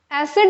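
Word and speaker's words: acid: सी आईडी ठीक है जब हम इसको प्रोनाउंस करेंगे तो we will say we will put stress जोड़ देंगे ए पर एसिड but when we will pronounce this word a सी आई डी आई सी इट it will bomb become एसिडिक ठीक है ना तो सी पर ज्यादा स्ट्रेस आ जाता है यहां पर ओके सो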